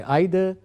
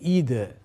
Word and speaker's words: either: Some people say either, some people say stylishly either.